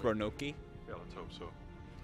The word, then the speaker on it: Roanoke: that ship dead ahead the cms roanoke it's pronounced ronoki yeah let's hope so